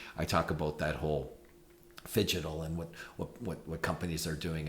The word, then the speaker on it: phygital: So pronounce that word for me, the physical and digital, slowly. Phygital. Fidgetal. Yeah, fidgetal. Yeah. Because it sounds like I'm fidgeting.